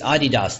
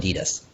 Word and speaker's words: Adidas: It's Adidas that we get confused by. We call it Adidas.